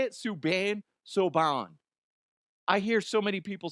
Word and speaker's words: Subban: PK Subban. Is that how you say it? Subban? Subban.